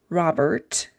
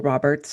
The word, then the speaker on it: Robert: And the author is Katie Robert, not plural Roberts, but Robert.